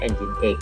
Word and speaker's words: Nginx: Kalau dibaca ada yang membacanya itu Nging ya. Kalau kalian pernah buka browsing tahu-tahu kok tampilannya Nging ya, Nginx ya. Itu sebenarnya bacanya Nginx, tapi kalau kita bacanya kadang dibaca Nging gitu ya. Tapi sebenarnya Nginx.